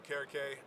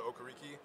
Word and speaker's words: Okereke: uh nigeria um back back in nigeria it's pronounced so carrake uh my parents came here you know they transition kind of go to go to okoriki just make it easier phonetically for people and then really just me you know playing on national tv other nigerians seen my name uh wanted to go back to the correct pronunciation just kind of honor my culture and heritage did you have people